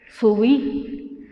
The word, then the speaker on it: subí: Entonces ahí varía, ay, pues es que se pronuncia así, por ejemplo, tamal, subi, no se dice subi, se dice subí.